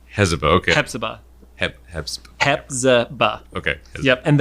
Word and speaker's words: Hepzibah: So that's Hezbollah. Hezbollah, okay. Hepzibah.